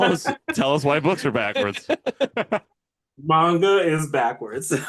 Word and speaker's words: manga: And did I say it right that time? I manga manga. You got it, man. Yeah, it's not mango salsa, it's manga.